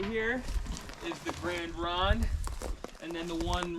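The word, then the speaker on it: Grande Ronde: down ways it's still they call it it's gran ron takes over okay what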